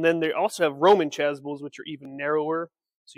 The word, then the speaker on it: chasuble: Starts with a C, rhymes with chasuble.